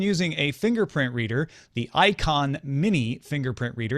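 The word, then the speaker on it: Eikon: Bill says, I've been using a fingerprint reader, the Icon Mini fingerprint reader. It's spelled E-I-K-O-N, for Microsoft Windows for nearly 2 weeks on my Windows 10 desktop.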